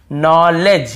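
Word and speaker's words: knowledge: यहां पर भी देखिए नॉलेज यहां पर भी डी साइलेंट है नॉलेज नहीं है नॉलेज डी भी साइलेंट है यहां पर के भी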